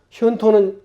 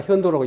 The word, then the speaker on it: 현도: 현토는 아까 현도라고 읽는다고 했죠. 왜냐? 자치통감에 토음은 도로 읽어라 이렇게 나와 있어요. 자치통감에 나온 거예요. 그리고 이 토는 도자하고 같은 의미로 읽어. 그래서 현도라고 읽는 거예요.